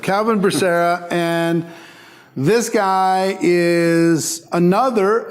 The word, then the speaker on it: Becerra: Did I pronounce that perfect, Calvin properly? Becerra. Calvin Becerra, and this guy is another of the $1